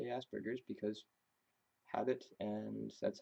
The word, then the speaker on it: Asperger's: up with Asperger's I understand that it's not pronounced Asperger's it's Asperger's it's not strain word named after of course